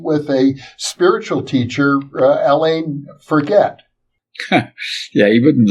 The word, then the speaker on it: Forget: a spiritual teacher, Alain Forget. Yeah, he wouldn't like that. His name is Forget. He's French. So you have to pronounce.